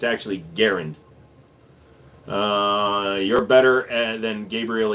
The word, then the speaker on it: Garand: The creator of the M1 Garand was, it's pronounced Garand. Everybody says I'm Garand here in the United States, but it's actually Garand.